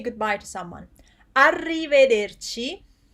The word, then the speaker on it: arrivederci: say goodbye to someone arrivederci it's uh one two three four five syllables goodbye which literally means